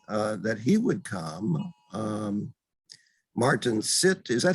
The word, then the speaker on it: Sitt: Martin Sitt, is that how you pronounce his last name? S-I-T-T? Sitta.